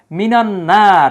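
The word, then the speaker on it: مِنَ النَّار: কিন্তু এই জায়গায় দেখেন মিনান্নার আলিফ লামের কিন্তু কোন উচ্চারণ নাই এই নুনটা হচ্ছে আল হুরুফুস শামসিয়াত অর্থাৎ এটা হচ্ছে সূর্যাক্ষর সূর্যাক্ষরের পূর্বে আলিফ লাম আসলে আলিফ লাম উচ্চারিত হয় না বরং ওই সূর্যাক্ষরের উপরে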